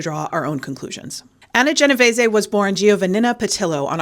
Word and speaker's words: Genovese: I'm going with Genovese because that's how you pronounce it in Italian.